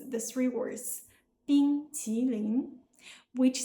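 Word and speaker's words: 冰淇淋: Now, pronunciation. This is where Cena's efforts really shines, and where the famous "bing qi ling" comes from.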